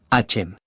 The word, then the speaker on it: Hashem: También se puede usar en hebreo la palabra Hashem, sin pronunciar la letra H como una J fuerte, porque eso está mal dicho. Tampoco debe terminarse con N, sino con M, Hashem.